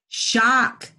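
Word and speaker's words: Zscho: i did something how do you say your last name like electrical shock shock really well yeah but it's z s c h o right yeah but it's really shocked but so it's that's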